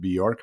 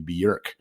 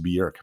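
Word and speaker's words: Björk: It's not Bork. Everybody pronounces it Borc, but it's actually Berkc. It's pronounced Berkc.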